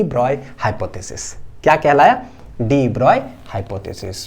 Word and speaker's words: de Broglie: ब्रॉय hypothesis क्या कहलाया डिब्रॉय hypothesis pronounced as इनका नाम जो है डिब्रॉय द डिब्रॉय हाइपोथेसिस बोलते हैं ठीक है तो क्या